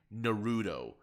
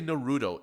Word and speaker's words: Naruto: By the way, while I was editing this, I noticed that you keep saying Naruto. Why do you say Naruto? It's pronounced Naruto.